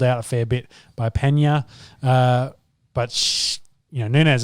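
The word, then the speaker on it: Peña: amanda nunes versus julianne penner pena pena oh there's meant to be in a yeah a little line the little thingy yeah that's why i couldn't say it right nice and classy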